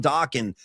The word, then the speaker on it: Dokken: Because I feel like if someone's not shouting out Don Dokken, I haven't done my job. And I'm going to shout out Don Dokken, Rhymes with Rockin', and remind you that they had that one single, Into the Fire, I'm Falling.